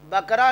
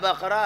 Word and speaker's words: بقرہ: سورہ بقرہ نہیں بھئی, بقرہ ہے. ہاں, اب تو تلفظ بڑا خراب ہو گیا.